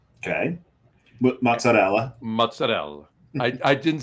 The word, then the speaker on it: mozzarella: Um, smoked mozzarell. Okay. Mozzarella. Mozzarella. I I didn't say the I said moz I didn't say mozzarell I said I said mozzarella but it's mozzarell I didn't say mozzarella mozzarell